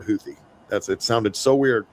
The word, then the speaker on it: Houthi: But it's always been is is completely new to my reality. And I'm gonna say my reality. You could come in here and say you've been hearing it as Houthy for your whole life. But uh I've never heard Huthie.